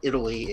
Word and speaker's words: Eataly: Pronto Italy uh and I'm not mispronouncing it it's just a pun it's it's like Italy except it's e-a-t -a-l-y o Italy um it's probably the